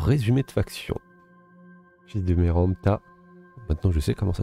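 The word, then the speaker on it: Merneptah: d'excellentes questions alors résumé de faction fils de meromta maintenant je sais comment ça se prononce meromta héritier du trône d'Égypte donc on est l'héritier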